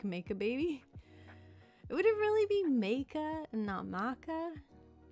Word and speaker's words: Macabebe: The first result that came up is that it's pronounced roughly like make a baby. Would it really be make-a and not maca? Is that correct? Make a maca. Make a baby.